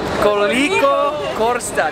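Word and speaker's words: Koliko košta: So he told me to say, Corsica. Costa. Corsica. Costa. Is it Corsico Costa? Corsico? Koliko Costa. That's how you say how much.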